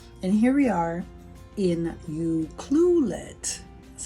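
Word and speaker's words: Ucluelet: just turned 60 and here we are in you cluet that's how you say it um having crab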